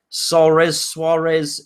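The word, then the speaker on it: Souaré: They've got, his name is Suarez. It's not spelt like Suarez. It looks like it's spelt Soares, but it's got a funny pronunciation.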